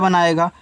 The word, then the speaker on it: bone: है टी के पहले है तो ऊपर क्रिया बनाएगा, तो टी से आपका टा, ऊपर क्रिया स्पोर्ट।